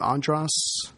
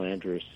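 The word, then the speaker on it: Andrus: Colonel, how do you say his name, Andras? Yeah, Colonel Andras.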